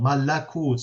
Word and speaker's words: malakut: And the Quran still has this a vowel, malakut, so it's 3 syllables, while in Syriac it's just malkuth, only 2 syllables.